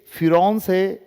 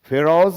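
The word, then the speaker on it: Pharaohs: ये फिरौन से, कि कोई लोग इसको फेरोज भी बोलता है, लेकिन ये फिरौन है ना। फिरौन से उच्चारण करते हैं, अलग अलग तरह का इसमें एक्सेंट है, तो इसको हम फिरौन्स कहें तो ठीक है।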